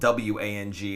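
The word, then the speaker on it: Huang: And his last name was spelled W-A-N-G. It's actually spelled H-U-A-N-G. I believe it's still pronounced Wang, though.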